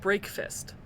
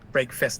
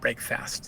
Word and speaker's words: Break Fist: electric Punk SCA and it is pronounced break fist I believe so break fist not break fast yes yes okay cuz